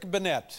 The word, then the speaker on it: Bennette: you pronounce it actually it's actually pronounced Banette benette what did I